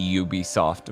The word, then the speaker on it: Ubisoft: streaming on Netflix a Ubisoft original because the U is pronounced like Yu so they don't have